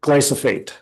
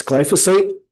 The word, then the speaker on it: glyphosate: And the presenter said, "Glyophate." That's not how you say it. It's glyphosate and that's Roundup.